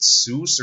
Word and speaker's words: sous: Is it Seuss or Souse? Sous chef. Sous chef. It's sous chef.